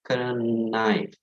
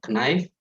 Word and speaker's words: knife: at the letters here knife actually there are two silent letters here that is silent k and silent e nine knock knife but nine so we do not pronounce the k at all nice like nice to